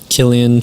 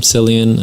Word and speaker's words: Cillian: you know the actors they killed it and Killian Cillian and I you say his name I see